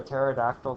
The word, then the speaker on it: pterodactyl: can never hear a pterodactyl go to the bathroom this has geologists for centuries youall know why the p is silent go tell your favorite